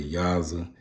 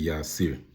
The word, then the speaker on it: Yasir: Some people say Yaza, but it's really Yasir.